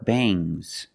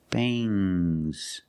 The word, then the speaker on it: bangs: about NG plus s when you have S after NG it makes the nasal sound M but it also makes a little G sound but not a hard strong G these are bangs bangs there's a little G but it's not bang G it's softer bangs I I don't have